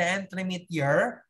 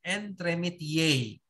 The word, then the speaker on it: entremetier: Okay, we have here the entremetier, but you pronounce it entremetier.